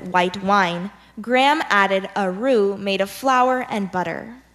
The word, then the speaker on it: roux: I'll give you the definition the word is rue this rue is a mixture of flour and